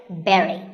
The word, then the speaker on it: berry: like that right but this word sounds just like the berry in strawberry so once again berry but back to silent